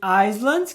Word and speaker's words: island: E o S em Island, que significa ilha, também não vai ser pronunciado.